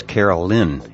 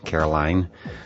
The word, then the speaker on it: Carolyn: And I'm still not sure if I'm getting this right, but I think the proper pronunciation of her name is Carolyn F., not Caroline.